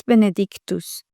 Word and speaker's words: benedictus: Those consonants let them sound clearly without fear of pronouncing them. It's benedictus. It's benedictus frucus ventric.